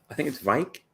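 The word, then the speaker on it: Wijk: I'm terrible at Scandinavian, and I think it's Vike. I think the W is a V.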